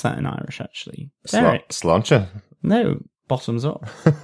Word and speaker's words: Sláinte: Sláinte? No, bottoms up. Sláinte. That's how we pronounce it.